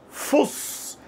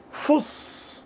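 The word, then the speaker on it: فس: Fuss, que é até uma bonitinha de pronunciar, não é? Fuss. com S bem limpo, tá? Como na palavra sapo, não palavra casa.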